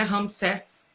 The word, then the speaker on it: Ramsés: Ramsés, assim a pronúncia.